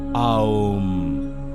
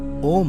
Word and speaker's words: ॐ: ऐसे जो साउंड निकलता है वो है आओम, ओम नहीं।